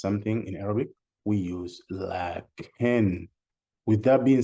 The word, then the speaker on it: لَكِنْ: We say lakin or lakinna as if we have an alif here, lakin, see, lakin, but actually we pronounce the alif, but we don't write it.